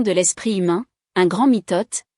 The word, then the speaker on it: mitote: Votre esprit tout entier est un brouillard que les Toltecs appellent un mitote, prononcé mitouté.